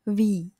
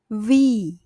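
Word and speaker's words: Wie: wi wi we wi tapi dalam bahasa Jerman terdengar sedikit berbeda yang benar adalah Wi v vi contoh lainnya vas vas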